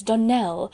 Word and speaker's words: Donnell: morning connected with the donald children clarice almira told me that you pronounce our name donal now miss surely the correct pronunciation of our name is donnell accent on the last syllable i hope you'll remember